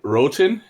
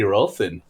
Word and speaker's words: Rothin: i saying it wrong is it rothan or rothen um actually over here most people say rotin wroten okay see i was way off um but um as it's actually an indian name um my cousin and my cousin always told me well it should be rothen and um well i